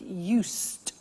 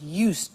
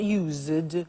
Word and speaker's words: used: listen to the pronunciation i said used with t sound used not used or used used that's